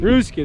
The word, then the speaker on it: Ruski: So Artem right here, if you guys don't know, how do you say Ruski or Rusky? Ruski, there you go, not Rusky.